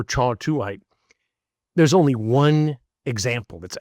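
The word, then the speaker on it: kyawthuite: It's pronounced, it's spelled with a K, but pronounced cha or chawtuite.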